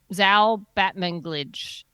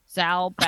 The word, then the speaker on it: Zal Batmanglij: Zal Batmanglij. Zal Batmanglij.